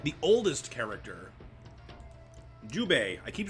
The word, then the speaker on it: Jubei: a new pay was like the oldest character Jubei I keep saying his name wrong Yaya Yahoo Yahoo Zhu paid you pay Judi pay there it is Jubei ugh you he's a holder older samurai pretty